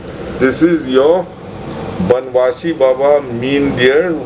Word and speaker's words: Mindear: is your banwashi baba mean dear which is which has been mispronounced as my Hinder and this is the